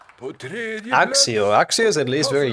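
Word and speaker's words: Accio: See if pronounces K. It should be Akio, right? I thought so as well. The official Latin pronunciation should be that.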